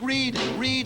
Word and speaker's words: read: child for heaven's sake read that rhymes with lead which is what you'll